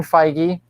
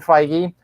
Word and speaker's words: Feige: there's new head of the mountain um kevin feige brian i said it right um kevin feige has thank you kevin feige has made it